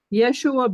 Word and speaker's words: Yeshua: find it yeah um Yeshua Ben Joseph there you go and yes isn't Yeshua a Hebrew pronunciation of Jesus it is but that's